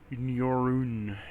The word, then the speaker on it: Neurun: Neurun is how it's uh pronounced.